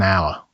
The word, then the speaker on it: hour: R begins with the letter H, but that H is silent, so the first sound is the vowel O. It is an hour.